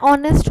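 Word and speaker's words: honest: तो article error है एन ऑनेस्ट होता है बिकॉज़ एच साइलेंट है तो यहां पर हमें कॉन्सोनेंट साउंड आ रही है सो सॉरी वोल साउंड आ रही है आई am sorry H consonant H एक कॉन्सोनेंट है व्हिच इज साइलेंट तो हमें ओ की साउंड आ रही है व्हिच इज अ ववलू इसलिए हमारा आंसर है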